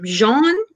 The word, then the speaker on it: Jean: his name was um jean i think that's how you pronounce it like it's like gene but it's like pronounced like it's like shawn yeah john theory mastering